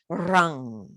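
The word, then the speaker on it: ram: this time it's around it's like a rolled r rung it's spelt r a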